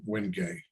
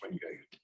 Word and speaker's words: Wenge: Most of the bows I made in the past couple of years have had the Wenge. It's spelled WGNGE, but pronounced Wenge.